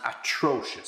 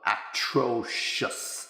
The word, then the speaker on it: atrocious: you are terrible and atrocious. So just be careful with the pronunciation of that. Terrible, easy, but atrocious. Atrocious. Okay, just to make sure you get the right stress.